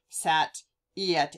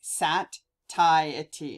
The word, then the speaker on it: satiety: hunger and say satiety satiety satiety sorry i had to look at that one extra hard tidy i wanted to go sat yet anyway sat tie a tea it's it's pronounced weird but anyway that basically means